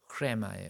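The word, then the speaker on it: ῥῆμα: 레마라고도 하고 그 다음에 정확한 발음은 흐레마예요.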